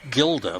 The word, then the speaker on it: Gilda: way up the ladder Gilda whose name was spelled Gilda but with a soft G was not involved in